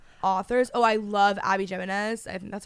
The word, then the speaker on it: Jimenez: like giving similar authors oh I love Abby Jimenez that's how you say her name every book